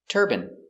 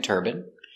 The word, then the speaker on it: turbine: and urine let's practice these two words are pronounced exactly the same turban he's wearing a turban and turban this is a turban in America it's more common to hear turbine but in England they say turbine some people in America say turbine but it's more common in America to say turbine example these are wind